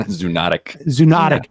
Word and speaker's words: zoonotic: I mean, to the extent that there is evidence, it's all on the zoolistic. I can't even know the word. Zoonotic.